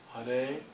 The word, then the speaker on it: Hare: And Hare, we put an emphasis on the second syllable, because in Sanskrit the E is held twice as long, so it acts as a kind of emphasis.